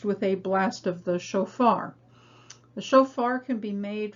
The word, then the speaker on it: shofar: So speaking of sounds, the second syllable in shofar begins with the new letter for this lesson, and that is the Fe, which is actually a soft pronunciation of the letter Pe.